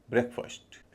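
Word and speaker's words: breakfast: जब ये मिल जाते हैं तो उच्चारण होगा ब्रेकफास्ट। एफ एस टी का उच्चारण फास्ट ना हो के फर्स्ट हो जाता है।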